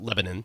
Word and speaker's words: Lebanon: And they don't pronounce it Lebanon. They pronounce it Lebanon. It's Lebanon.